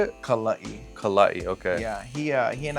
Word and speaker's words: Kala'i: Kala'i.